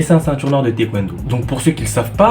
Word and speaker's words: taekwondo: Taekwondo. Là, je te prononce en coréen, on dit taekwondo, mais en français, taekwondo, bref, du taekwondo.